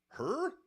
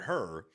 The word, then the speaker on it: Hur: Hur? Yeah, H-U-R. And I'm guessing it's spelled like, or pronounced like Ben Hur.